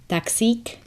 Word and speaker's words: taxík: A taxi that you might want to use when you're traveling around is taxík. Taxík. Or taxi, which we add a different pronunciation to, so it's taxi.